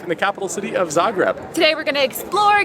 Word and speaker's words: Zagreb: How do you pronounce Zagreb? It's pronounced Zagreb with the emphasis on the first syllable.